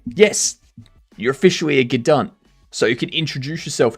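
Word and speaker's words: g'dunt: Yes, you're officially a gdant.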